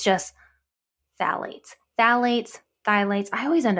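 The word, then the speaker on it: phthalates: The PH is silent, so it's just phalates. ates theates. I always end up saying phalates. I think it is actually pronounced phalates. Whatever phalates, but the ph is silent.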